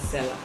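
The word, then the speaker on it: Selar: okada books and seller seller is spelled s-e-l-a-r that's seller okay so um yes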